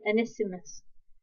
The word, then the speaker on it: Onesimus: this passage it mentions another guy, which is Onesimus.